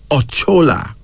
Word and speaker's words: Ochola: h o l a pronounce actually ochola o-c-h-o-l-a or chola the luo people of